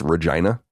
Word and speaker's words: Regina: The city in Canada spelled Regina is actually pronounced Regina.